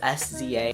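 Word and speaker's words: SZA: Drew Barrymore by siza I actually had to look up how to say her name because it's s Za something about the tone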